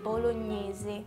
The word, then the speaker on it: bolognese: In Italy we pronounce every letter. Okay. But that word makes one sound. It's a little it's the opposite. What about the G? Is there like a... Okay, we say bolognese. Bolognese. Bolognese. Bolognese. Bolognese. So ny makes one sound, but we pronounce the E at the end.